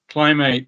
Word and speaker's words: Clim8: how are you doing Richard so if I pronounced that correctly it's good climb climb eight climb eight that's exactly right yeah fantastic yeah it's around